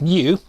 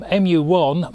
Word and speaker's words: mju: something called the mju it's about um i think pronounced mu um u1 which was a